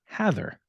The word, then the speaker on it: Hathor: internet it is pronounced Heather no so h-a-t-h-o-r so if as a little device for myself it's pronounced in a similar way to the legendary news anchor Dan Rather or the less legendary